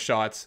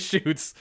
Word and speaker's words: Shoots: thought for some reason i thought your name was shots and i almost butchered that but no it is shoots i yeah i thought